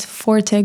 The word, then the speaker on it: Forte: Yes, forte. Um it's a French word. Forte. Forte. It's like strong, right? Um no, it's it's like if I said this is my forte basically.